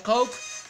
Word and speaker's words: Koke: No sé cómo lo pronuncia en su país. Aquí se pronuncia Coke.